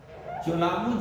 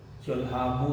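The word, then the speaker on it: Cholamu: तो ये है चोलामू झील इसको बोलते हैं, लेकिन इसका सही उच्चारण जो है वो है चोलामू झील।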